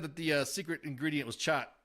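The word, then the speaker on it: khat: Patrick said that the secret ingredient was chat. That's the way it's pronounced in Somalinga, not cot.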